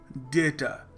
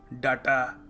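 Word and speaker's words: data: अगला शब्द है डेटा डेटा हम क्या कहते हैं हम कह देते हैं कभी-कभी डाटा डाटा सो डाटा नहीं है डेटा है डीए वाई टी ए यह करेक्ट स्पेलिंग नहीं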